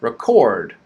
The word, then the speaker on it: record: first syllable okay now here's another example we have stress on the second syllable right record chord is stressed record okay so look for